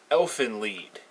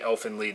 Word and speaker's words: Elfen Lied: all that's worth and most people seem to be calling an elfin lead anyway so that's the pronunciation that I'm going to use now the story of elfin